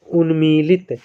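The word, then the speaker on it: उन्मत्त: पढ़ने का प्रयास करो शुद्ध उच्चारण उन्मत है ना उन्मत यह पढ़ा जाएगा उन्मत उन्मत है ना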